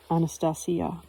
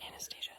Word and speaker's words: Anastasia: As noted in the translator's preface, this reflects the Russian pronunciation of her name, with the stress on the syllable C, pronounced C, Anastasia. But I still call it Anastasia.